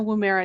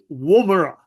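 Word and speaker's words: Woomera: uh really interesting because it landed in the wera test range in uh in Australia do you know about that one brandan yes um and also we pronounce it WRA oh dear yeah but despite being Australian and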